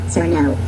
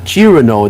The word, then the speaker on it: Cirno: I like how even the AI calls her Sir No. Although that's probably because how her name's just written instead of how it's actually pronounced. You see, if they typed in Chirano, then the AI would have definitely said Chirano instead.